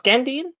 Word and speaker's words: Gandine: gandine this week so let's pronounce gandine that's how they pronounce it in the show so that's what i'm going with okay gandine um this